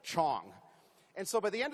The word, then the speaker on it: Chong: in my last name the Dutch traditionally could not pronounce the consonant CH so my last name was Shong instead of Chong and so by the